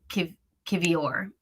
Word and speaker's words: Kiwior: W is V in Polish. So you guys are absolutely right about that. So Kiwior is the name.